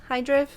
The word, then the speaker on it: Hydref: Hydref. See, I'm from Wales, and sometimes even I don't know how to pronounce things.